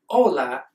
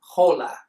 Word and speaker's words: hola: Remember that it's said "ola" without pronouncing the "h." We don't say "hhola." The "h" is always silent in Spanish.